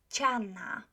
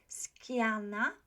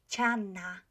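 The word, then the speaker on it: ściana: at those four words chana a lot of students say skiana so be careful with the siddha chana chana can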